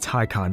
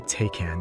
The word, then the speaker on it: Taycan: state-of-the-art batteries and fancy computers and yes it's pronounced tycon because if you say taken the sales person will just face pawn themselves